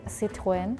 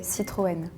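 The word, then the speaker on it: Citroën: of like O Okay in Germany you would say citen this is another one I've never seen but I would guess it's Citroen uh in Sweden we would say citan in Spain we say croan in Italian we say croan so it's a French brand we will say Citroen so I think German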